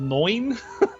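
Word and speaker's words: Neun: And by the way, can I just note that card, I finally looked it up, and it's called Noin, which is not how I expect to pronounce N-E-U-N.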